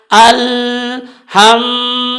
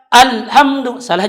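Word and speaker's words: الحمد لله: madu itu dengan kalau salah-salah atau dibaca dengan alham salah juga atau dengan dibaca alhamdulillah juga tetapi yang benar adalah Alhamdulillah itu tadi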